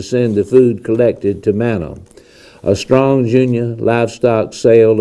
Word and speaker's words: Manna: That is spelled M-A-N-N-A, Manna.